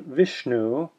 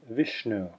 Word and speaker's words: Vishnu: together as in Shiva dot underneath the letter s means it's retroflex and it's sha as in Vishnu this next one is